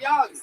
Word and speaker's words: Yang: It's spelled like Yang, but it's pronounced Young.